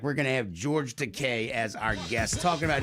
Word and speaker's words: Takei: going to have George Decay as our guest talking about his new movie. I'm sorry. His new graphic novel, It Rhymes with Teay. It rhymes with Teay. Dean, I know. Okay. Because he's gay.